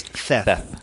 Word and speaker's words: Theth: And I'm not mispronouncing it. It is Theth.